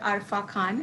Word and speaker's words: Arfa Khan: And tell me something about your character, Arfa Khan, if I'm pronouncing it correctly.